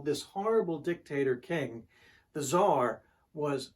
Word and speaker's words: Tsar: And then news comes that the Tsar, C-Z-A-R, the Tsar of Russia, Tsar means king, you can also spell it T-S-A-R, the Tsar of Russia abdicates his throne.